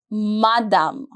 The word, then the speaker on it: madame: Madame, Madame. The pronunciation is very simple.